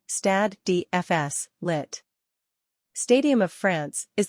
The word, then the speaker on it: Stade de France: The Stade de France, French pronunciation, Stade de France, lit.